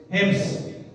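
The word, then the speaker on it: حمص: और उसके बाद हलब और हम्स, शायद यही प्रोनाउंसिएशन है इसका, कितना दुरुस्त फरमा अर्ज कर रहा हूं मैं, हिम्स, ए के नीचे जेर, हिम्स।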